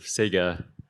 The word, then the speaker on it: Cega: I'm one of the co-founders of Sega that's spelled c-e-g-a um we're building the